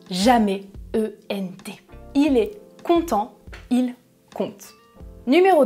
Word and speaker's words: content: oui regardez les exemples dans la première phrase je prononce il est content parce qu'il est en vacances je prononce content dans la deuxième phrase je prononce ils content des histoires à leurs enfants avant de dormir dans la première phrase